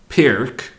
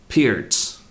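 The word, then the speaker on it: Pirc: sent me a YouTube video on how to pronounce what I previously called Pyrrhic then I called it peered because I had done some research and apparently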